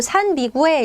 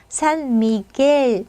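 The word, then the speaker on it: San Miguel: 해 주셔야 돼요 그 산미구엘 이게 아니라 산미겔 미겔이 맞습니다 미겔 그죠 그리고 얘는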